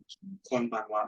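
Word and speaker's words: こんばんは: Konbanwa. Again, this is another one of those greeting words. So it comes with that wa at the end when it should be ha.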